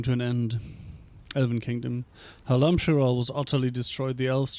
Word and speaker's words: Halam-Shiral: I would suppose it's Halam-Shiral then, right? Emphasis on the second syllable again.